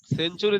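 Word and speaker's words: century: সেঞ্চুরি, সেঞ্চুরি দেখেন টি এর পরে ইউ আসছে, তার কারণ টি এর উচ্চারণ চ হয়ে যাবে, সেঞ্চুরি, সেঞ্চুরি।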